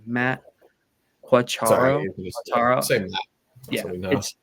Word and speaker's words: Quatraro: Oh, I can't pronounce his last name. Matt Quatraro.